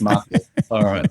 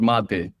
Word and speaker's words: mate: But it's mate. It's our most iconic beverage. Really? And what is it called? What's it called? It's called mate. It's called spelled like mate.